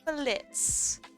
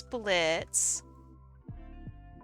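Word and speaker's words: Blitzø: you know uh and then Blitz the O is silent this is Blitz he is kind of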